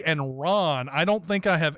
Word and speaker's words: Ran: It is spelled Ran, but I believe it's pronounced Ron.